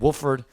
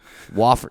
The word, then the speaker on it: Wofford: Or you know, that's not even how you pronounce it, right? How do you say it? Wofford.